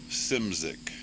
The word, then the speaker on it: Szymczyk: Bill Simcik. Simcik. Simcik. Okay, yeah, just great. It's like Great. Phonetically, it's SIMZICK.